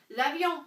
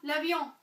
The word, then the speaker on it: l'avion: So what do we do if it's singular and begins with a vowel? To say the, L'apostrophe. So, l'avion, l'avion, the plane, right?